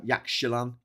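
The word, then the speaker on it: Yaxchilán: Whereas if you're in Spain, not Spain, Mexico, the Mexican X is pronounced like a ch sound. So a sh sound. So Yaxchilan and Mexico should be the real way of saying it, but no one says it that way.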